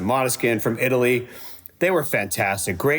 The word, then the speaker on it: Måneskin: So coming in at number 5, it's a tie between Måneskin, which I thought it was Måneskin, but actually I heard the singer pronounce it Måneskin from Italy, They were fantastic.